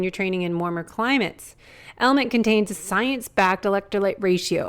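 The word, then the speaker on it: LMNT: our sponsors El element it's spelled l MNT but pronounced element if you haven't heard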